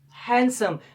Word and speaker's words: handsome: Same like it, another word, and the most important one is handsome. This is handsome. This is not called handsome. Handsome. It's because the letter D is silent in this word.